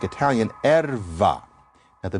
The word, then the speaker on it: erva: For those of you who know Spanish, you think about the fact that there's that pronunciation of b as v in many Spanish dialects. That's not an accident. So, erva, in Portuguese, it's erva.